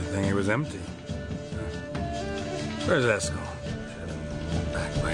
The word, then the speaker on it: Eskel: Where's Eskel?